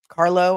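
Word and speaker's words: Carlow: Okay, I'm going to pronounce this right because you guys you guys wrote to me and told me how to pronounce it. Carlo, Ireland. If I'm wrong, tell spell it phonetically for me in the chat. C A R L O W.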